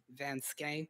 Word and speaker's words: Vanschenck: If you didn't catch the Twitter, it's just my name, Van Skank, VANSCHENCK. Yeah, sadly, it's pronounced like that.